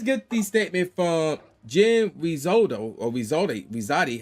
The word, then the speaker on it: Rizzotti: So let's get the statement from Jen Rizzotti, how you pronounce it? Yeah, Rizzotti, who is the selection committee chair.